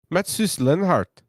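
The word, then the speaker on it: Mateusz Lenart: Pronounce that name, please. Oh, Matsus Lenhart.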